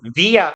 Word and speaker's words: via: 그리고 다음에 뒤에 있는 via 혹은 via 마음대로 읽으세요. 둘 다 맞는 발음이에요.